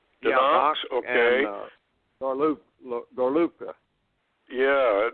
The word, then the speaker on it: Donetsk: Or how do you pronounce that? Donetsk. Donetsk, okay.